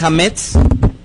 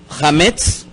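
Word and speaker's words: chametz: levadura, en hebreo para la palabra levadura es hametz. Hametz.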